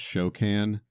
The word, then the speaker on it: Shokan: i was the reason the reason i lean towards show can is because uh it sounds like coke can and you love drinking